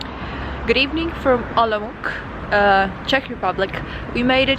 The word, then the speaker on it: Olomouc: We could all be pronouncing this wrong. Olomouc. Olomouc. So this wonderful time, city, one more time. It's Olomouc, is actually pronounced Olomouc. So apparently it is called,